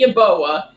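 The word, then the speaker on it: Yeboah: Y how do you say that last name yoa yoa okay Kenny yaboa and Elija Moore both opting out before they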